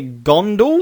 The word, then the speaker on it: Gondol: Beauty will wear yellow, and they're Gondal. Yep, you got it. Gondal, Fondle the Gondal. Gandalf. Gondal. I'm just going to call them the Fondle tribe, because we're going to fondle the Gondal.